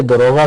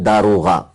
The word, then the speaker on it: داروغہ: ہیں کہ جنت کے دروغہ کا کیا نام ہے؟ جنت کے دروغہ نہیں بولتے، دروغ تو جھوٹ بولنے والوں کو بولتے ہیں۔ اصل تلفظ داروغہ، جنت کے جو جہنم